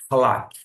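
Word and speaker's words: חָלַק: A pronúncia aqui desse CH é um som semelhante ao CH alemão, tá? É raspado, vou dizer assim, tem aquela aspiração, halak.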